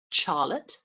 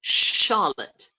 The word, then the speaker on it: Charlotte: But CH in my name doesn't make a ch sound. I'm not Charlotte, I'm Charlotte.